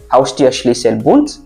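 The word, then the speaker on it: Haustürschlüsselbund: Tu sépares Haus, Tür, Schlüssel, Bund.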